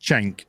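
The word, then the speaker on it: Cenk: thank you chang hugo c-e-n-k c-e-n-k but it's pronounced chang he did like this he's been fighting his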